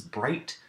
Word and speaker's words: bright: the pattern is this the digraph gh is usually silent when followed by the letter T in each of these words gh as a is followed by tea and it is rendered silent we can utilize